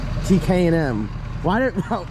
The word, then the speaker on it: TKM: what up talk to the people going to tk and m t k m why didn't all right it's tkm performance why